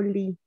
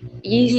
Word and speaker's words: gli: no sé si se pronuncia gli o li. A ver, ¿cómo se pronuncia? Quiero la opinión pública. Li. Gli studenti. Gli, exacto. Gli.